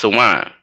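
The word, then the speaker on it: Samhain: that it spelled like samim but it's it's pronounced Shaman Shaman like Shaman now it was saan it's saan that's how you say it that's the that's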